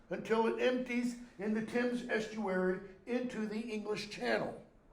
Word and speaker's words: Thames: are supposed to right it's not pronounced Dames by the way it's the Tim's River make those flights hmm